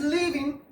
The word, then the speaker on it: leaving: She's leaving. Long vowel, this one.